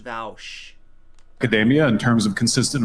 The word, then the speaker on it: Vaush: with that it's pronounced vowsh it's pronounced vowsh academia in terms of